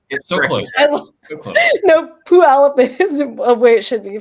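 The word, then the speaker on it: Puyallup: be Summit did I say it correctly in pu yal up um didn't get it correct so close close no p alop is way it should be pronounced it's p palop I always say it wrong tooop before the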